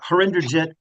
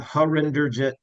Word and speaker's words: Harinderjit: court's gonna, if I may, How do you pronounce his name? you're talking about Habib, Dr. Syed Habib? No, the plaintiff that's left. Oh, Harinderjit Bopari. Harinder Gent. Okay. Harinderjit. Render Gent. Okay. Yeah, Harinderjit Bopari. Thank you, Thank and I'll